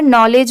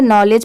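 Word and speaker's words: knowledge: जैसे यहां पर नॉलेज में एन से स्टार्ट है। नॉलेज पढ़ेंगे। बट लिखते टाइम अगर आप स्टार्टिंग में के नहीं लगाएंगे तो आपकी स्पेलिंग रॉन्ग होगी।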